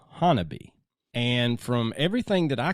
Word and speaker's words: Honobia: Now, it is spelled Honobia, but it is pronounced Honobia.